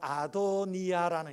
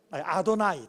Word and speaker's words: 아도나이: 그래서이 이름을 직접 발음 발음할 수가 없어서 어떤 이름으로 대치를 했느냐면 바로 아도니아라는 이름으로 불렀어요. 요드해 바브 해라고 적으면서 그것을 아도니아라고 부르는 거 따라합시다. 아도니아. 아도나이 따 죄송합니다. 아도나이. 예.